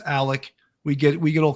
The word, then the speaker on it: Alex: law firm there's uh alec and i know it's spelled alex but it's pronounced alec we get we get